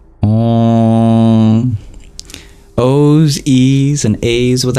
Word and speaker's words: Om: And the M with the dot below it is pure nasalization. Om.